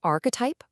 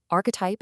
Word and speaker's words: archetype: It's pronounced archetype. Archetype. It's got three distinct syllables. And I really want you to notice that vowel anchor at the very end. The last part rhymes perfectly with the word ripe.